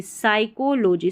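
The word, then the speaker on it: psychology: इसको लॉजी नहीं पढ़ना लॉजी जैसे बायोलॉजी टेक्नोलॉजी साइकोलॉजी साइको है ना इसमें पी एस साथ में है तो पी साइलेंट रहता है।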